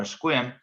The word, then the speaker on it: Sequim: Sequim or Squim sees the least amount of rain in Washington State.